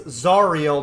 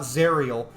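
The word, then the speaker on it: Zariel: XP to level three it's zarel not zerel oh I'm pronouncing it with an americ con exit no you're not names don't work like that names are how the person wants to pre have their name pronounced it's zarel and yes even zarel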